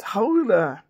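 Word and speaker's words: Gouda: and it was all right Yun um it's pronounced Hoda or we call it g go GAA cheese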